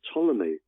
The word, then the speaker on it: Ptolemy: by the name of Ptolemy, spelled with a P, P-T.